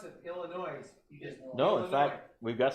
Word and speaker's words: Illinois: they always pronounce it illinois they go no no no no illinois drop the s let's find out only